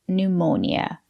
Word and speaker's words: pneumonia: right she has pneumonia remember the letter p is silent we say pneumonia she has pneumonia good